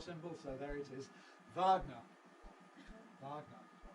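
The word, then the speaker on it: Wagner: explicit open schw symbol so there it is Vagner Vagner pronounced in English of course with the Russian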